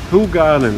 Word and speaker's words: Hoegaarden: town of the garden who garden like you pronounce who garden who God and who garden right who garden and look at this